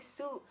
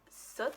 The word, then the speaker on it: soot: brought to my attention i'm pronouncing soot wrong i've been saying suit i didn't see no